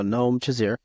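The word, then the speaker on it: Noam Shazeer: I'm going to get his name wrong. Noam Shazir. Yep, nope, All right. no, 2.7 Noam. There you go. Noam Shazir.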